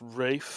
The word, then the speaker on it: Ralph: Actually, it's pronounced Rafe.